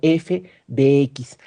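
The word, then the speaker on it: f(x): La altura de la pelota es una función que depende de x y eso se escribe como f, paréntesis x, y se lee como f de x.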